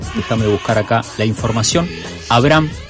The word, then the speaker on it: Abraham: mucho para conversar con Tatiana Quispe y con. Lo voy a pronunciar mejor, Abraham. Déjame buscar acá la información. Abraham, ahí digo bien.